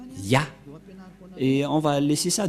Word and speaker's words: Yah: Qu'on ne doit pas changer, car dès que vous voyez les formes Yod et He, vous le prononcez directement Yah.